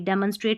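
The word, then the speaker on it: demonstrate: ई को डी नहीं ड मन एम ओ एन को मौन नहीं मन पढ़ना है देखिए डमन डमन ऐसे पढ़ना है डी ई एम ओ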